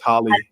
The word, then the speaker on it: Halle: I think I said Haley, but I think it's Holly. Oh, Holly Bailey is Chloe and gonna. Halle.